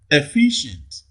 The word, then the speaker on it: efficient: Okay, efficient. Efficient. In efficient, the second syllable receives the primary stress.